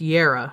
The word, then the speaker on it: Jera: Okay, I think that's Jera. Okay, it's spelled with a J, but it's pronounced year.